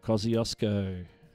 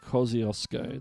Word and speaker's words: Kosciuszko: And the answer is Mount Kosciuszko. Mount Kosciuszko. That's how it's pronounced.